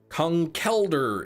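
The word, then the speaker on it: Conkeldurr: but I I'll at least acknowledge that I'm pronouncing it incorrectly. Kungelder is apparently the correct way. Lank, dude. Concelder.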